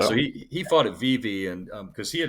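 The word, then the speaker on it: Vevay: Um, I never say it right. Vivi Indiana or Vivv Indiana. V. Today they call it Vive. Vivv Indiana. Okay. It's it's it's uh Swiss, but Vive is how they call it.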